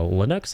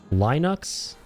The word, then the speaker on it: Linux: Linux. Is it Linux? Stone quarry. Where is this place? Put a bit more inflection on the N part like Nooks.